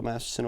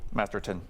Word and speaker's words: Masterton: I like the Bill Masterson award. Masterton first. I like T-O-N. Yeah. Not S-O-N. what he said. What did I say? No, I Masterson. said it wrong.